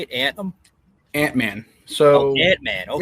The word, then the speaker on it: Antmann: Antmann.